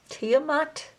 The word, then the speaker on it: Tiamat: is from the Wildwood and then this one Tiamat I'll show you that's how you pronounce that correctly it's a Babylonian goddess